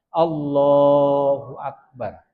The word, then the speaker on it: Allahu Akbar: Itu tidak bisa di dalam hati, harus diucapkan. Allahu Akbar.